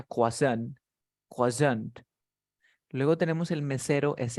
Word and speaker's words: croissant: luego tenemos un el esto se pronuncia coazán luego tenemos el mesero